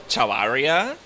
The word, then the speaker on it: Chavarria: So, some people may just say Chavarria, but Spanish pronunciation Chavarria.